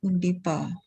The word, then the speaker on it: Undipa: Dipa Makassar, or I can see from the screen, Undipa, right? Undipa. Hope I pronounce it correctly. Yeah. Yes, so, correct.